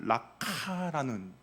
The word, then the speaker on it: 라가: 발음을 들으면 약간 이제 히브리 사람들의 억양이 강한데 약간 락카라는 그런 발음이 됩니다 어떻습니까 약간 가래가 끓어올리는